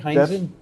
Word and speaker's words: Heinzen: Is that the right way to say it, Heinzen? Yep, just like German pronunciation.